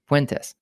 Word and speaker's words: Puentes: gotten your last name correct so I'm avoiding pronouncing it but how do you say your last name went this cuentas yeah yeah it's got a good ring I